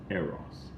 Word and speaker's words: eros: But the correct pronunciation in English is eros.